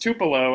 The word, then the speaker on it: Tupelo: I also knew that you were expecting like Tupelo or something about Elvis's like home city or something. I guarantee that. It's pronounced Tupelo, and I've been there.